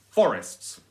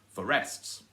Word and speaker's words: forests: can try both ways you can try for the stress on the first syllable forests or you can drive the stress on the second syllable for rests and for rests sounds weird it sounds wrong and you can work